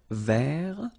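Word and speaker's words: vert: rou remember rou so masculine form don't pronounce the final T ver feminine form ver so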